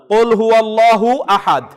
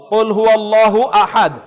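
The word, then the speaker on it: قل هو الله أحد: একেবারে লাস্টে বলেন তো আসলে আয়াতটা কিভাবে উচ্চারণ করতে হবে? না ফাইন, আপনি আবার হুয়া আহাদ তো আমি বলবো না, কুল হুয়াল্লাহু আহাদ, কুল হুয়াল্লাহু আহাদ।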